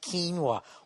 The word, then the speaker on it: quinoa: quinoa salad I guess quinoa even though it's spelt oay is not the way to say it's some ass on Twitter's giving me you're driving me crazy it's pronounced quinoa what kind of a